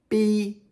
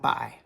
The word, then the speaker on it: bi: In the pin phonetic system, this is pronounced b, not by.